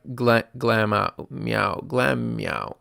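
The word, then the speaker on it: Glameow: Glam meow. Glam meow. That's how you say it.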